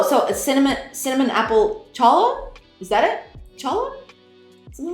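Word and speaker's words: challah: recovered or returned it's pronounced like hola oh so a cinnamon cinnamon apple Chala is that it Chala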